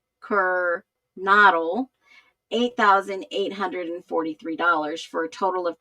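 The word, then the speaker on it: Kernodle: And Jeffrey Kirk Kernoodle, uh, sorry, I always say that name wrong. Jeffrey Kirk Kernado. A lot of people are It's not Noodle, it's Kernle.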